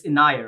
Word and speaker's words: Inayah: It's Inayah, right? That's how you pronounce it. Yes, I don't want it's to get it Inayah. wrong. Okay, Yeah. thank you so much, Inayah, for being here No, and thank joining you